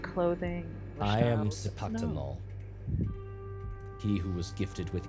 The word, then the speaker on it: Cipactonal: Sipaktanol, he who was gifted with ears and tongue.